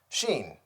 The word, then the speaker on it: Shein: recommending recently that I try out Sheen I believe that's how it's pronounced s-h-e-i-n so I ordered a